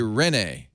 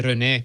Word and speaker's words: René: I mean, if you're in Quebec, you say René, but I mean, that's totally, no one does that. So I'm saying it Quebecois. I'm saying it with the accent on the nay, not the ren.